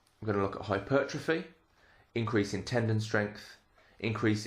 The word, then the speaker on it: hypertrophy: Hypertrophy. You may have heard it pronounced hypertrophy. Either is absolutely fine.